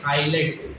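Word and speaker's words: islets: Correct word है pancreatic आइलेट्स, एस साइलेंट रहता है।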